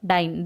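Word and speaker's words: diyne: DIE डाईन और डाईन, DIY दोन्हीचा उच्चार डाईन एकच केला जातो, फक्त स्पेलिंगमध्ये डिफरन्स आहे. जर डबल बॉन्ड 2 असले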